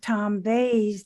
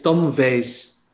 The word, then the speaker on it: Veys: That is Richard Hareis with Tom Veys, the translator.